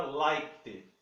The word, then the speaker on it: liked: falei em outro vídeo, quando ele vai para o passado eu não pronuncio esse E aqui, tá? Ele não é pronunciado. Então fica liked, liked, tá? Eu tinha acionado o it. É o liked. Não pronuncio o E.